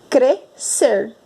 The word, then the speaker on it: crescer: Nós falamos crescer. Nós não ouvimos o som do S. Por isso que o SC é dígrafo.